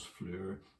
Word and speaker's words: floor: doer on floor as fleur as they'll say it's ulster scots but that's actually elizabethan english pronunciation and that's why those